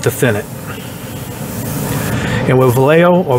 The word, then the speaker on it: Vallejo: And with Vallejo, or Vallejo, how it's pronounced, I recommend only using their thinner.